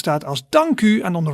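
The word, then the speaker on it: dank u: side you see the word dank and you pronounce that as danku and on the right hand side you see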